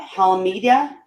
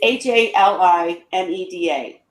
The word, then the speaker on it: Halimeda: but one person got Halimedia. I can never say it right. Halimedia. Sounds so stupid. The green, it's Halimeda.